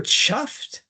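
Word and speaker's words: chough: So this is the bird chuff is spelt like it ought to be a cough, but it's Oh, it's pronounced chuff.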